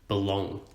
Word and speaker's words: belong: For example, if we think of the word belong, the B is unstressed, we don't emphasize it. And the long is stressed, we emphasize it, belong.